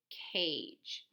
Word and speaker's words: cage: And then don't forget the silent E helper at the end, and the long A is here. Cage.